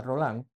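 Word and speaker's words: Rollin: Segundo, dice con otro político de la revolución del del 48, se llamaba Ledru Rolán, se escribe Rolín, pero se pronuncia Rolán.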